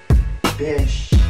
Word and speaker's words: Bysshe: Bish. Like rhymes with dish? Yes. Yes. Bish is his name.